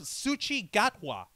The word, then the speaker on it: Ncuti Gatwa: Who is a gentleman by the name of Ncuti Gatwa. All right. And that's how it's pronounced.